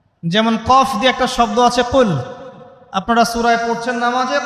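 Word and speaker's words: قُلْ: শব্দের অর্থ হচ্ছে বলুন কিন্তু আপনি যদি কফ এর মাখরাজটা ভুল করেন এবং কফ না বলে আপনি ছোট কাফ পড়েন এবং কুল না পড়ে আপনি কুল পড়েন বলেন যে কুলহু আল্লাহু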